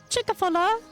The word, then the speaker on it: Chick-fil-A: Chickfila. It's pronounced Chick-fil-A.